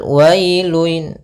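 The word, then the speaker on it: وَيْلٌ: Pada lafal wailun, wailun di sini ada bacaan lin, yaitu pada lafal wa ketemu dengan huruf ya sukun, maka dia lembut dalam pelafalannya.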